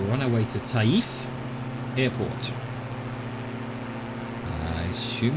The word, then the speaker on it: Taif: apologize for that but if they've anglicized it as t-a-i-f i assume that's not tafe it's taif otherwise it would have been tafe or something to make it easier on us english speakers to pronounce it but then again